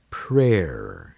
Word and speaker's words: prayer: Prayer is another example where Y is silent.